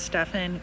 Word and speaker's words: Stephon: tina dale jr and i believe it's pronounced stefan grogan who disappeared in